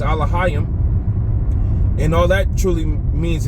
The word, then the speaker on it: Elohim: Uh some of them call it uh Elohim which the correct way to say it in the Paleo Hebrew is alohim.